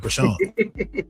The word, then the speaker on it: Chrisean: That's how you pronounce the name, Chrisean? Chrisean.